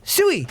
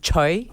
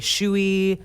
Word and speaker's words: Tsui: and we welcome sam tsui to the studio and obviously said that right that T is silent yes hey well you